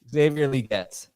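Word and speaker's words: Xavier Legette: so you got a pronunciation yes it is pronounced Exavier uh liette liette Xavier liette you know the capital on the G uh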